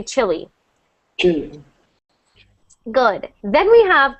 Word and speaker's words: Chile: not like Chile but Chile and when we have uh we have it sound the exact same as chili chili chili three different words sound